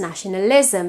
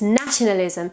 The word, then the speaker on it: nationalism: Or the word nationalism in English tends to be pronounced nationalism because we have nacionalizar, right? But it's nationalism.